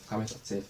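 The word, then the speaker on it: qamets hatuf: And we have kamets qatif as a short vowel. That's a o.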